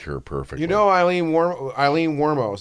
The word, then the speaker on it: Wuornos: You know Eileen Wuornos. That's how you pronounce Wuornos. it. Wuornos.